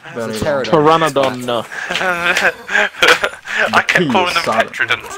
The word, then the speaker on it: Pteranodon: Because I call them Petrodons, but I'm wrong, aren't I? Yes. Pteranodon.